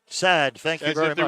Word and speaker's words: Saad: And Darren Wilson, Saad's name, S-A-A-D, it's pronounced Sad. Sad, thank you very much.